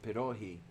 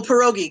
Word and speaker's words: pierogi: that reminded me of perohi uh yeah you know about perohi um oh pierogi gotcha yes yeah um there's slight differences in pronunciation okay that's why i didn't recognize the word but i i love